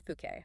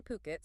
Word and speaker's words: Phuket: The remarkable resilience of the property market in Fuket. That's pronounced Puket, by the way.